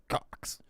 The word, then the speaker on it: Cox: Cox. You're laughing, but it's spelled C-O-X. Oh, okay. Like Cox Railroad or something like that. Okay. Not like a cock.